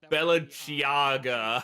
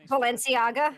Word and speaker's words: Balenciaga: Ivan, uh, do they wear good uh good uh good stuff such as uh Belliaga? I can't remember how to pronounce that space. Balenciaga.